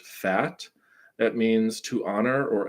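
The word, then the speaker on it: fête: there's this word here it's I believe French it's f-e-t-e I think it's pronounced fat it means to honor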